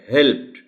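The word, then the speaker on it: helped: बात की थी कि किसी लफ्ज के आखिर में जो ईडी आता है वो 3 किस्म की आवाजें पैदा हो सकती हैं. डिपेंड्स on what kind of word is there. एक टी साउंड है, एक सिंपल डी साउंड है और तीसरी आईडी साउंड है.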